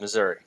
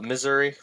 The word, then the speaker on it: Missouri: I say just like that. Missouri. Okay. Some people don't like it. They call it Missouri.